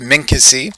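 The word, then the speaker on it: minkisi: known as men Kesey's let's just make sure that we're making that pronunciation correctly mink is a mink Izzie okay good so it's Minka si or the singular is an Inca see historically have been labeled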